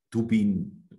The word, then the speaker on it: Tubin: Tubin en estonien, mais ça s'écrit T-U-B-I-N.